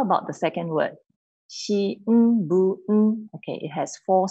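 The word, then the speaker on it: 新聞: Shi n bu n. Okay, it has four sounds. Shi n bu n. If I say it quickly, it becomes shinbun.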